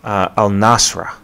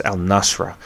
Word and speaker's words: al-Nusra: is a group called al-nasra and if i'm pronouncing that correctly it's al-nusra saudi arabia is hoping